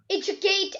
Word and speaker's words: educate: Ma'am, also educate. Educate and education. Yes, educate. So ma'am, it was here the first syllable.